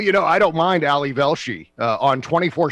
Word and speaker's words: Ali Velshi: will attest to this i go ali velshi it's ali velshi and i say it